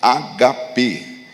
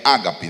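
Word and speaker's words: ἀγάπη: A gente chama essa a palavra amor nesse texto, a gente costuma chamar de ágape, né? Essa é a pronúncia que a gente usa em português, mas no grego, na pronúncia original é agape. Não é ágape, né?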